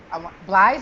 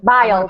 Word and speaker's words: Biles: Biles is her last name, or Biles. Simone Biles. Biles. That's what I thought. I wanted to pronounce it correctly.